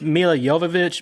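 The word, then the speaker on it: Jovovich: really like mil JV mil jovic yes I like her I just like her they pronounce it all it's mil yovich movich I've heard her you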